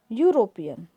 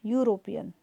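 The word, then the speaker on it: European: एंड यूरोपियन, E sound क्या करता है, या, यूरोपियन, जबकि ई वॉवल है लेकिन साउंड है consonant, so वी यूज ए.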